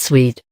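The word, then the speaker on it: suite: are designed to invoke a sweet pronounced sweet france for a sequence is an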